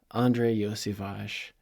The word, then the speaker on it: Andrei Iosivas: not say his name properly but it is Andre yage as we all know but this was interesting